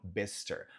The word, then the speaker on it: Bicester: Dito isso, começando com a cidade de Bicester, ou Bicester, se for pegar mais um sotaque do R cultural norte-americano, Bicester. Mas nota que não é Bicester, tá?